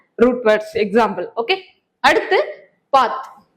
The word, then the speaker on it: path: Okay, அடுத்து பாத். பாத் அப்படிங்கிற வார்த்தை, பாத் அப்படிங்கிறது PATH, பேத், பேத் அப்படின்னு சொல்லணும்.